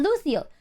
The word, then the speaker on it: luteal: Yeah, luteal.